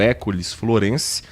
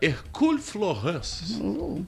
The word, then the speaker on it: Hercule Florence: Aí a pronúncia vai depender do abrasileiramento, da versão brasileira do seu nome, que acabou se tornando École Florence, ou o original, que era Hercule Florence. Vamos de École Florence, que nós estamos no Brasil.